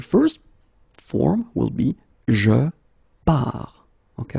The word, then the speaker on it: pars: So the first form will be je pars, okay? Remember, you put this S, you don't pronounce it.